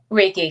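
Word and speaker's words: Reiki: us before about uh level one Rey certification is that how you say it reiky certification yes I don't have that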